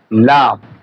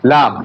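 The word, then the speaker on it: لام: এরপরে দেখেন আমাদের হরফ, এই হরফের নাম হচ্ছে লাম। হরফের নাম লাম। দেখেন, লাম। দেখেন, জিহ্বার আগার কিনারা সামনের উপরের দাঁতের গোড়ার সঙ্গে লাগায়, সামনের উপরের 2 দাঁতের গোড়ার সঙ্গে লাগায় এই হরফটি উচ্চারণ করতে হবে।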